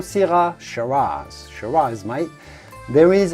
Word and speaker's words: syrah: talk about syrah yes i know the spelling of syrah is a little strange but yes you do have to say syrah in french we would say sira the australians do call syrah sharas sharais mai there